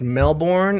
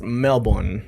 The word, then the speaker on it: Melbourne: is pronounced Melbourne. Melbour Melbourne. Melbourne. Melbourne. Oh, like there's no R. He has no R in it. It's Melbourne. We basically swallow the middle bit. Like two syllables.